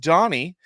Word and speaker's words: Dany: look up uh it's it's spelled Dany but it's pronounced Donnie him and his brother